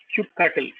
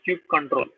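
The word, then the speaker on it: kubectl: that CA is called Cube cutle some people pronounce it as cube control Cube cutle or cube control control is a command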